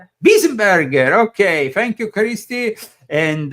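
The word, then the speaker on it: Weisenburger: The article concerns Archbishop Weinsbauer. That was, do you pronounce it like that? No. Weisenbauer? Burger? Wiesenberger.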